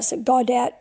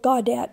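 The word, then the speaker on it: Gawdat: eliminated Mo Godot I'm not probably not godat Mo godat I think is how you say his name author of a book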